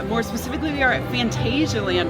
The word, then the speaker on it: Phantasialand: More specifically, we are at Phantasialand, or Phantasialand, I guess, as it's more formally pronounced.